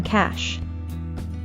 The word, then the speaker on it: cash: Remember to curl your tongue up so it points upwards towards the roof of your mouth when pronouncing the SH sound in cash.